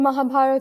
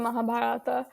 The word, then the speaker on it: Mahabharata: called the mahaparata yeah the Mahabharat or the Mahabharata um whether you pronounce the a at the end just depends on region so yeah either way